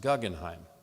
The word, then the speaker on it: Guggenheim: Even though she married into the family, she wanted the Guggenheim family to know that it was actually pronounced Guggenheim, and she would introduce herself that way.